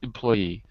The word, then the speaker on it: employee: i say to employee employee employee it's better if you put the strength into the word employee the stress okay the syllabus has to go at the end employee employee okay i